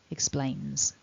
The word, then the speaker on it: explains: sound at the end the third person s as it's written is actually pronounced as a z because we've already got